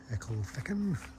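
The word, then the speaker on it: Ecclefechan: And half an hour stop in Egelfachen, that's how you pronounce it according to the locals, and time to march on.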